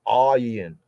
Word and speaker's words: Ayin: So a proper full voicing pronunciation of that will be Ayin.